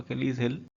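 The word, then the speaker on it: Achilles heel: अकेलीज हिल, मैंने इसका प्रोनाउंसिएशन भी ऊपर लिखा है, आप इसको इस तरीके से प्रोनाउंस कर सकते हो, अकेलीज हिल, जिसका मतलब होता है वीक पॉइंट।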